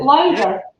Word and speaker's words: Lauder: were the locked in lauder is that pronounced correctly is it louder yes well it was just